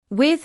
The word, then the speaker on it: with: With the th sound sits right between your teeth. With with with.